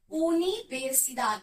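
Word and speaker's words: universidad: नहीं, स्पेनिश में pronunciation different होती है, जो हमने आपको अल्फाबेट की वीडियो में सिखाई थी. जिसने नहीं देखी होगी तो प्लीज आप जाकर उसको देख लेना. यूनिवर्सिदाद मतलब यूनिवर्सिटी.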